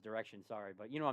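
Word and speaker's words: Direxion: 3x or diretion or I think it's just pronounced Direction sorry but you know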